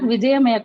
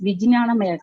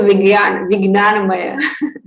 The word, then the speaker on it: Vijnanamaya: It is not Vijayamaya Kosha, it is Vijnanamaya Kosha. You change the spellings. Niti? Okay. Vijaya. It is written Vijaya. Okay. In somewhere we also pronounce as a Vignanamaya.